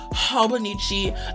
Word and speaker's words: Hobonichi: Hobonichi ao 2026.